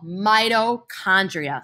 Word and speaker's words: mitochondria: This is called mitochondria. Say that with me. Mitochondria. Mitochondria, it sounds like the word mighty, right?